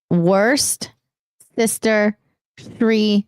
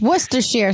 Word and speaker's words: Worcestershire: Deluxe for $1 says worst sister tree sauce. It is not. It's Worcestershire sauce.